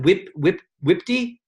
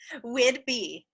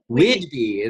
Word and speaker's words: Whidbey: She lives in, pronounce it Whitby? Whidbey. Whidbey.